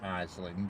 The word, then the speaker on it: Ayling: One's called Steve Marsh, and the other one's called Ruth Ayling, or Aisling as she pronounced it, but it's spelled Ayling, and they both travel around.